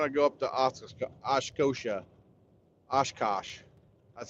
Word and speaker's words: Oshkosh: Oshkosh. That's how you pronounce it, Oshkosh.